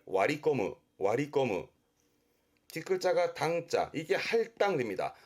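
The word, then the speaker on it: 割り込む: 세치기 하는 걸 와리꼬무, 와리꼬무. 뒷글자가 당자, 이게 할당됩니다. 업무 할당이라든가 나눠지는 할당, 발음은 와리아테르, 와리아테르.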